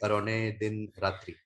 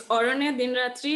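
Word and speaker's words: Aranyer Din Ratri: And you pick Arone Din Ratri. Do you want to Yeah. talk about? Sorry Yeah. for the So it's mispronunciation. Sorry. Yeah, it's Orone Din Ratri, and in English, I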